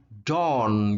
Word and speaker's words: dawn: Kalau subuh nulisnya A, tapi bacanya jadi O. Dawn, gitu ya. Kalau ke bawah nulisnya O, tapi bacanya A. Down. Jadi ini dawn, ini down, gitu ya.